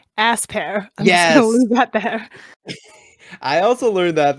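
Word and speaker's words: Aspear: can i just say i never realized before that you pronounced this berry ass pear yeah i also learned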